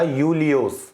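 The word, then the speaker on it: Iulius: था लाइक जैसे कि जूलियस सीजर बट इसको प्रोनाउंस किया जाता था यूलियोस अब यहां पर आई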